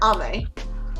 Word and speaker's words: Ame: She just doesn't like using Amy, because it's spelled A-M-E for Ame. She does not like to be called Amy. She just prefers Ame, short for Amelia.